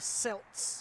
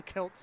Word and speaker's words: Celts: The Celts, or the Celts, I should say. Got to pronounce that C correctly.